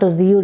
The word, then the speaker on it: rude: Here R-U-D, not rude. It is not rude. It is roo, oo, double O sound, long O sound. Rude.